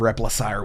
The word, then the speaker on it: Replacire: I asked if I was making sure the pronunciation of repaire was right got it 100% I'm very impressed